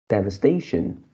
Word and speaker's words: devastation: line the fourth words from behind this is devastation devastation and you pronounce as the first syllable you pronounce as